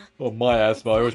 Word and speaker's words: miasma: We don't know enough about miasma. We still don't know enough about the myasma. Oh, myasma. I always pronounce it wrong.